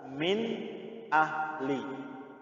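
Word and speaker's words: من أهل: Bacanya jelas, min ahli, ya, bukan samar-samar atau bukan dengung, tapi jelas, min ahli.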